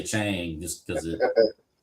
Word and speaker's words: Chang: I usually drink the Chang or Chong. They call it it's supposed it's supposed to be pronounced Chong. Chong. Always say Chang just because it Yeah, we'll have the Chang.